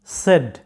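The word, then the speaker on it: said: কিন্তু এটার সঠিক উচ্চারণটা হচ্ছে সেড সেড এটার উচ্চারণ সেইড নয় সেড সেড এরকম এরপর নাম্বার সেভেন তোমরা সাধারণত এটা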